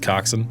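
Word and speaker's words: coxswain: down to Cox Swain Cox Swain oh no which is pronounced coxen yeah so Snider tell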